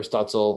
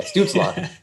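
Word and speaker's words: Stützle: like that uh goal prop on student or stutzel or wait i feel like obviously i said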